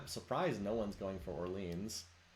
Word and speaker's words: Orléans: I'm surprised no one's going for Orleans. Or Orléans, if I want to do the French pronunciation.